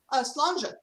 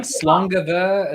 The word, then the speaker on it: sláinte: Now, Pam, in Irish, in Irish Gaelic, you would say sláinte, and I know it's similar in Scots, but can you give us your preferred pronunciation for it? Slanja. Slanja. All right, there we go. All right, because I've also heard like slangava and like put a V in there.